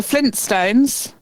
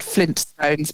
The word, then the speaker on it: Flintstones: But apparently people are missing the first T in Flintstones. Um, I think that's just because it's a you don't pronounce it very hard, do you? You could Flintstones, but it's you you sort of it's a soft tea, isn't it? You sort of skim over that a bit.